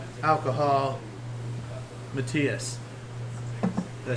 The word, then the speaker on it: Matthias: So, with that last call, alcohol, Matthias.